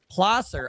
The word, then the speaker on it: Placer: For the record, it's Placer. Okay, My Placer County, because you can't fucking pronounce things in California.